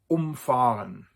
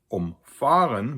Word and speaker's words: umfahren: For the second, umfahren, where the stress is on the fa, which is not a